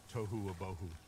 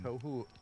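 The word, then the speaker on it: tohu: In Hebrew, it's toou. Um, toou. Yeah. It rhymes.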